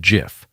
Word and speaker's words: GIF: yet everyone uses, the GIF. Created by Steve Wilhite at CompuServe in 1987, and yes, he famously said it's pronounced "jif", though the world is still fighting about it.